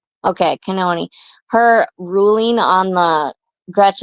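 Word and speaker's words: Cannon: important um judge kon's do you pronounce her last name kenon or Canon can I think kenon the way you said it I think you said it correct okay kenon her ruling on the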